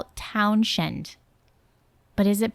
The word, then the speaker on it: Townshend: Now we go into 1967 when Pete Townshend destroyed more Townsend.